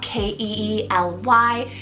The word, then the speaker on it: Keely: girl of The Meadowlands next up is Keely k-e-e-l-y Keely I've always been so in love with